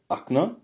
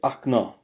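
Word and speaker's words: окна: L'exemple qu'on a c'est Ak devient acna. Au fait acno est prononcé akna.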